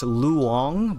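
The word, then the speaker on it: loong: the uh I think it's Mandarin for Dragon it's luong but it's spelled in like English characters as l o o n g so it just looks like it says long uh that's why I was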